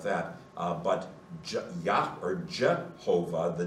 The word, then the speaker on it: Jehovah: And so the letter J in German is pronounced Yot. So it sounds like a nice Y. In English it becomes J. So all of the J sounds are wrong.